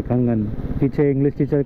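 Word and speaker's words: Kangan: के ए एन जी N, okay कंगन।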